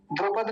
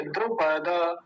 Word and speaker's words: द्रुपद: द्रुपद नहीं है ये, द्रुपद, क्योंकि हलंत नहीं है। अगर हलंत लगा होता तो क्या बोलते? द्रुपद। लेकिन अभी हलंत नहीं है तो क्या बोलेंगे? द्रुपद।